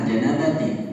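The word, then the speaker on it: الجَنَابَةِ: Al janabah tu ta atau ti yang benar adalah janabati, dia mudhof ilaih juga.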